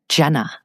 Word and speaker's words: Jenna: Jenna.